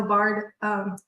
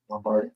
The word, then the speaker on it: Lombard: Well, in 2015, 16, I talked him into going to Good Springs, Nevada, to where Carol Lavard, did I say her name right? Lombard.